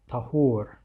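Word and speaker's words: طَهور: about the word here, a lot of people confuse this word tahur and tuhur with a fatha or a dhamma, so like a short a sound or a short like u sound. So Tahur with the A sound, this indicates the type of water, whereas Tuhur with the U sound is like a verbal noun for purification.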